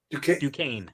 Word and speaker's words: Duquesne: been cast as jack dukeness to quinn is ducane yeah the swordsman doesn't look like duquesne it